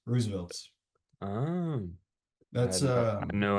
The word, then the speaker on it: RSVLTS: Can we just go back to the fact, is it really called Roosevelt's? Is that the RSVL, pronunciation? yeah, Yeah. RSVLTS, Roosevelt's.